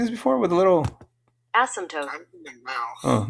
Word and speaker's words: asymptote: I said taupe, but it's actually tote. Asymptote. Oh, they have a Asymptote. That's I've never seen this before. Have you ever seen this before with a little? Asymptote.